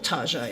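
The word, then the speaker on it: Target: It's kind of amusing, but that's what we Aussies like to call it. I don't know if the Americans have adopted that way of pronouncing it, but it's something we in Australia have done for a while, called it Taaaget, pretending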